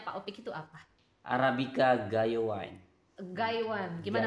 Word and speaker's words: Gayo Wine: Arabica Gayo Wine. Gaywan, gimana bacanya Pak? Gayo Wine.